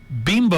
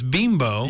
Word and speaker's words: Bimbo: that with uh the bimbo i guess everybody's calling it bimbo but it's beembo yes yeah that was